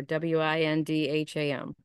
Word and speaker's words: Windham: And Windham Central has a silent H in there, W-I-N-D-H-A-M.